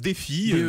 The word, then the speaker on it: DeafiLine: dit fidèle à j'écris des ah ça se prononce défi mais encore l'anglais comme socom sorède défi line